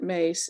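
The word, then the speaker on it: Myss: Lynn, if you're looking about the book, Carolyn, she pronounces it Mace. It's spelled M-Y-S-S.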